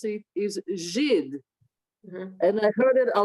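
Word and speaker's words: Żyd: used against Jews, because she read it as Zids, but the correct way to pronounce it is Zhid.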